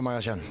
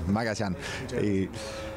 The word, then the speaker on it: Magallán: ¿Cómo se pronuncia tu nombre? Magallán. Buenos días. Primero, buenos días también. Magallán. A partir de ahora sabemos todos, es Magallán.